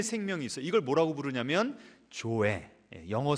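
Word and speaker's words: ζωή: 이걸 뭐라고 부르냐면 조에, 영어 스펠링으로 하면 Z-O-E, 조에라고 부르는 겁니다.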